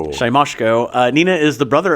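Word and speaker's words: Siemaszko: I had to put the pronunciation down because I could not ever say it right. Shyamyosko. Shyamyosko.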